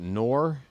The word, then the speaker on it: Knorr: Oh, is that Knorr? I thought that was K-N-O-N. No, it's K-N-O-R-R. Michael Knorr.